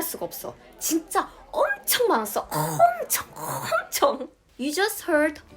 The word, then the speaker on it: 엄청: So I added that throat clearing sound when pronouncing 엄청, like 엄청. Right. When you emphasize some words, you add the sound to the middle of the pronunciation.